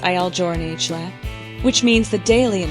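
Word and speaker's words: Il Giornale: started his own coffee company called I joural pronounced iel jour which means the daily in Italian the name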